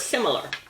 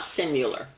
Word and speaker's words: similar: So why shouldn't similar be pronounced with a U sound, like rectangular and vascular? Well, because it's spelled with an I and not a U. So it's similar, not simular. Pretty easy when you think about it. It's just because of its spelling.